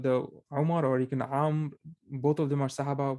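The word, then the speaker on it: عمرو: them for the armed they will put a wall and you don't pronounce this well make sense every time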